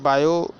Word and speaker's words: Biot: ठीक है, तो मैंने आपको पूरा बायो सेवर्ट का नियम समझा दिया। देखिए, बायो सेवर्ट लिखते कैसे हैं, बच्चे कंफ्यूज हो जाते हैं। देखिए, बायो, इसमें टी साइलेंट होता है, इसको लिखते हैं हम BIOT, बायो, SAVART, Savart law.